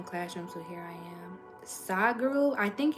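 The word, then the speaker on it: Sadhguru: soccer while in classroom so here I am side Guru I think it's spelled s-a-h-d -n-g-a-r-u I think let me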